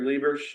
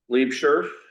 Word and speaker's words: Liebscher: Sherry Lieber, now, how do you pronounce her name correctly? Liebscher. She's our secretary.